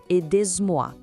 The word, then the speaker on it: Aidez-moi: E olha só que detalhe: o Z de aider gruda na palavra moi e isso cria um som de Z entre as duas. Escuta só, com atenção. Aidez-moi.